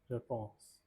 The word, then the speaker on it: réponse: This is pronounced as réponse.